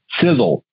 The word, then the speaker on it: Sisel: stand for something it's right in our name sizzle it's spelled s-i-s-e-l it's an acronym the first letter